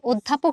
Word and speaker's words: অধ্যাপক: বানানে যদিও লেখা অ, ধয় জফলা আকার প, ক, অধ্যাপক, কিন্তু যখন আমি উচ্চারণ করছি তখন আমি অধ্যাপক বলছি না, বরং আমি বলছি অধ্যাপক। এই যে অধ্বনিটার উচ্চারণ ও হয়ে গেল, এই যে অধ্বনিটার উচ্চারণ